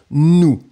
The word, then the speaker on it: nous: Previously, it was N and then ooh, final S not pronounced, nous.